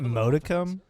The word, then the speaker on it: modicum: The individual fights when it came to Icebox, so I can respect Isn't it modicum? Modicum? It's with a D, right? Punishing in there.